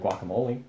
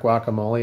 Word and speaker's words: guacamole: mean the guacamole M see how I say that in Spanish it's not guacamole it's guacamole mhm I mean not really